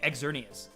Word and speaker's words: Xerneas: heard so i say xerneas but i've heard some people say it's supposed to be pronounced literally exernius like you're supposed to pronounce the x because it's the x mascot and when you say